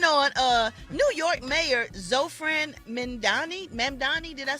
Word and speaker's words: Mamdani: New York Mayor Zofran Mamdani. Did I say it right? Mamdani.